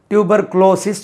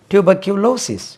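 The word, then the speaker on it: tuberculosis: சி எல் ஓ எஸ் ஐ எஸ் இப்படி ஒரு டியூபர்குளோசிஸ் சொல்றாங்க இதுக்கு பாருங்க டியூபர்குளோசிஸ் குளோசிஸ் டியூபர்குளோசிஸ் சொல்றாங்க தவறு tuber tuber Q கியூலோசிஸ் tuber Q க்யூ க்யூ க்யூ கியூலோசிஸ் அப்படி ஏன் குளோசிஸ் போடுறாங்க ஒருவேளை க்ளோஸ் பண்றதுனாலதான் டியூபர்குளோசிஸ் சொல்றாங்களா தெரியல டியூபர்குலோசிஸ் டியூபர்குலோசிஸ் டியூபர்குலோசிஸ் அதே stress lies on the second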